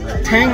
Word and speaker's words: Toong: ফর থুং চেকপোস্টে চলে এলাম actually জায়গাটার নাম ঠ্যাং বলে এরা উচ্চারণ করে তো সেইখানে এসে এখানে ফালে বলে